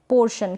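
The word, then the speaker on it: portion: फिर ये है पोर्शन, क्या है, पोर्शन। यहाँ पर भी आर को हम थोड़ा ही प्रोनाउंस कर रहे हैं, थोड़ा ही बोल रहे हैं, क्योंकि आर जो है यहाँ पर आधा है।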